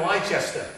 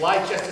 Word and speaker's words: Leicester: around United who was it United United and leester correct leester City Americans have finally realized how to pronounce Leicester now um what's the coach was